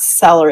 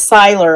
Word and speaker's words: Seiler: If you love, and it's not Seller, it's Seiler, I believe, is spelled Seiler.